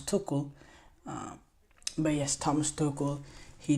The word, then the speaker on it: Tuchel: Every time I say Thomas Tuchel's name wrong, I always say Thomas Tuchel. It's Thomas Tuchel.